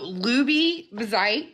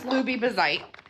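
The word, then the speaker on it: loubieh bi zeit: So luby bezite is how I pronounce it.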